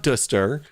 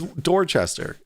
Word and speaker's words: Dorchester: It's not Duster, it's Dorchester. Whatever.